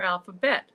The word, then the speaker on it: Alpha Bette: I that pronounced correctly alphab betti Jennifer well it's a good question I tend to call her alphabet alphabet I should have asked that before Davis like bet Davis ah Betty Davis eyes there you go